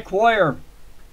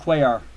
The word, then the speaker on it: Cuellar: I call it Cuellar, not Cuellar. I always pronounce it Coy. Have been all my life.